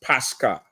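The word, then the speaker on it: Pascha: So here it's Pascar, right? The pronunciation is Pascar, not Easter.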